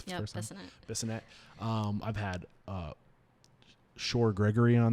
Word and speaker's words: Bissonette: We also had Jamie Bissonette on the show. Bissonette. I think I said his name wrong the first time. Bissonette.